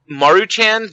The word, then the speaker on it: Maruchan: now I'm gonna say it that way uh maruchan the ramen company mm-hmm I pronounce that right Jim all right perfect uh